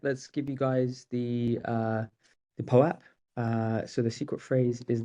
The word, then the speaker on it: POAP: POAP, yes, that is how you pronounce it.